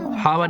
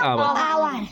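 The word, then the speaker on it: hour: पढ़ते हैं ठीक है आवर में क्या पढ़ते हैं एस साइलेंट रहता है इसे क्या पढ़ते हैं आवर हावर नहीं पढ़ते क्या पढ़ते हैं आवर नाइफ नाइफ में क्या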